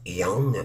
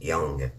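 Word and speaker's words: Jung: c'est de Carl on ça s ça se prononce Jong mais c'est Jong ok donc Carl C a r l Jong j e n g mais ça se prononce Jong alors le titre de la vidéo c'est ta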